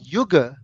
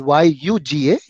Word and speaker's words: yuga: There is Y-U-G-A and this is Y-O-G-A. Yuga and yoga.